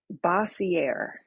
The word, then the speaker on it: Bossiere: It's a Bossiere.